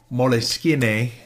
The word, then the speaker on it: Moleskine: I know it just looks like a moleskin or moleskine Italian pronunciation notebook, but here's what it is.